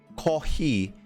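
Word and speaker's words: コーヒー: the word for coffee ko he is borrowed from another language it's pronounced pronounces if you pronounce it it sounds similar to the word coffee right this is normal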